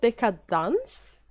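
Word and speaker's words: Deca-Dence: is um it's called deka dance uh it's spell like decadence like deca dash like isn't that decadence i don't know but they pronounce it dance it's produced by studio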